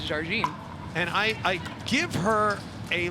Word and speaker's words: Jardim: me it's appropriately pronounced Jardim. Correct. She is from Brazil, and the correct pronunciation, often improperly done by many people, is Jardim.